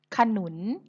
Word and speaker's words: ขนุน: ขนุน เห็น ไหม คะ ขนุน ไม่ ประวิสรรชนีย์ เพราะ เวลา เรา เขียน เรา ไม่ เขียน รูป สระ อะ ใช่ ไหม คะ แต่ เรา อ่าน ออก เสียง สระ อะ ค่ะ โน้ ท ก็ กลับ